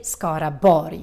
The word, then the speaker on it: Skaraborg: And when you see words like this, borg, with an RG in the end, then you need to pronounce it as a Y sound, almost like you're saying yes.